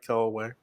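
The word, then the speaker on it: Kel'el Ware: They want a younger guy, so you can throw in Kel Ware. Did I pronounce that right? Kel Ware.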